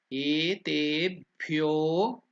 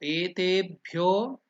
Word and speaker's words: etebhyo: So now we are using here Etebhyo. So that is 2 unit of time. That's why it's called Dirgha. So Etebhyo, can you chant it?